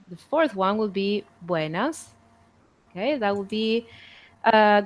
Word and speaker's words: Buenas: this one is that you tend to um like pronounce the E and the a a little bit longer so it will sound something like Buenas okay Buenas and that